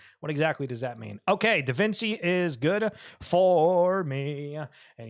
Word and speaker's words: Da Vinci: It's not pronounced Da Vinci, it's Da Vinci.